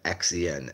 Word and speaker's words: Xen: in the Tsar, and then XEN as in Zen, not ZEN because that's not how I spell it.